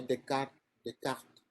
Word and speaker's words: Descartes: Entonces fue Descartes. Bueno, se pronuncia Descartes. Las S aquí no son Descartes.